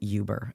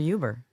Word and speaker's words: Uber: is um proper but he calls it Yuber and not Uber Uber you got to get you got to go order a uber that's one of those